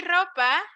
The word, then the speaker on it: ropa: you say zopa ropa we say ropa like this clothes clothes thank you you're